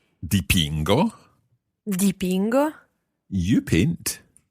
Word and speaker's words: dipingo: Dipingo. Dipingo.